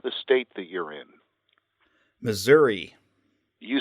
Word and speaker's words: Missouri: because there's an i at the end and it's not an A so I agree with that but but are there people in Missouri who say Missoura yes okay that's what